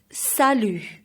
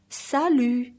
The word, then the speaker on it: salut: solution which means high and the T is silent sallu is used for a mate or a good friend once again read my lips salut one no time salut next is oh shanthi